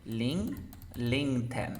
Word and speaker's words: LinkedIn: LinkedIn. Ya, ahora esta T está entre un sonido de vocal nomás. Por lo tanto, tengo que pronunciar la T.